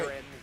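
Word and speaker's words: Ghiren: Yeah, the H is silent. There was an H in that? G-H-I-R-E-N. Okay. Giran Zaki.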